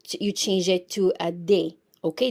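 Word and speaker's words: des: you change them you change it to a day okay d s we pronounce it as they so we have and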